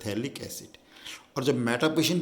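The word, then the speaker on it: phthalic acid: ध्यान रखिए, थैलिक एसिड में हमेशा क्या आता है, PH, स्पेलिंग में PH साइलेंट होता है, थैलिक एसिड।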